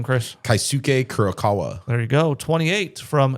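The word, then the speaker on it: Keisuke Kurokawa: Kaisuke Kurokawa.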